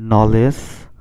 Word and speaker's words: knowledge: তার মানে কেটা এখানে উচ্চারণ হবে না। তাহলে আমরা একটু দেখি। এখানে তোমরা দেখতে পাচ্ছ লেখা আছে নলেজ, কে এন ও ডব্লিউ এল ই ডি জি ই, নলেজ।